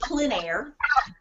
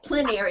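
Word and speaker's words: plein air: found that on your website PL it's it's pronounced pler and yeah pler it's spelled p l i n a i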